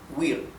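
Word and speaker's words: huir: Wir is one single syllable.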